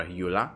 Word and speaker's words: Eula: on the official game it's uh ebla or eula as the english people pronounce it she is going